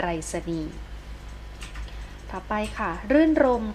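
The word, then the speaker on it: รื่นรมย์: แต่ ถ้า ไป ค่ะ รื่น รมย์ ค่ะ รื่น รมย์ เกาะ ยอ ยักษ์ การันต์ ไม่ อ่าน ออก เสียง ตัว นี้ นะ คะ ก็ จะ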